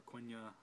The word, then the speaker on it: Quenya: He's got, I think it's pronounced Kenya or Quenya.